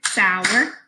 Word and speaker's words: Sauer: So my last name is Sauer. I could clap it, sour, or I can pay attention to how my chin drops.